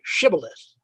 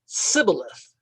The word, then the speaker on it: shibboleth: so different that they could not pronounce the word shibboleth they pronounced it sibyllith and so by that